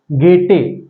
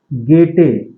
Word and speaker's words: Goethe: और इसके ऑथर, अगर आप इसके ऑथर की बात करें तो वो हैं गेटे। स्पेलिंग लिखने में है आपकी GOETHE, लेकिन इसको पढ़ते हैं गेटे।